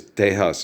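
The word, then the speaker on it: Tejas: uh for you know Spanish pronunciation for the the land mass that's over there across the real grand is teas it was with a you know a J like the beginning of Jesus, you know, deas.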